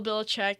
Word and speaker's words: Belichick: coach yeah hey you okay yeah like Bill Belichick is that how you say his name yes